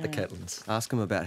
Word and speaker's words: Catlins: couldn't find you yeah that same pronunciation I noticed the Catelyn's yeah yeah as Caitlin Moran now you always said Caitlin's I suppose did you know I heard that one right the Catlins ask him about how